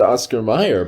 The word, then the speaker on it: Oscar Mayer: how you pronounce it but it's a it's pronounced oscar meyer but i feel like i remember it having